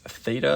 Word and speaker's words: theta: We're finding the the angle measure of theta. Remember, this is just a letter in the Greek alphabet, pronounced theta.